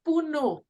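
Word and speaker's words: পুনঃ: were saying p-u-n-h-a yeah it's pronounced it's it's difficult it's puno try pronouncing it as an H aspirated at the end who know no no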